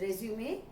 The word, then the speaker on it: résumé: It's a French word and its pronunciation is resume, which means a short